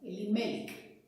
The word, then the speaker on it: Elimelec: El hombre se llamaba Elimelec, porque tiene acento en la E.